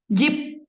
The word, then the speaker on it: 집: berubahnya P, P aja, P. bacanya P ya, P. Dua ini, ya memang mirip-mirip ya. Nah, bacanya P. Jadi, kalau ini bacanya apa? 집. J, I, P. Itu kan? J, I, P. Jadi, dibacanya 집.